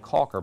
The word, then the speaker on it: Chalker: Linda Chalker CA it's she actually pronounces it Caulker but I said Chalker because that's it c-h-a-u-l